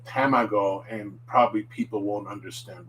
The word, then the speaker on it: tamago: an english word and for example this last one tamago which means egg people often would say the a like apple tamago and probably people won't